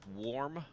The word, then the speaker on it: Valm: Valm. The Japanese is pronounced warm.